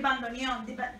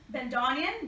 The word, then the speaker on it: bandoneon: El bandoneon. How do you say it in English? Bandoneon.